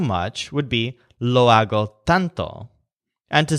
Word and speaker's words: tanto: This represents the word tanto, which means so much. So the stress is on tan, the color of both the red spices and the butcher's skin. So you think so much or tanto.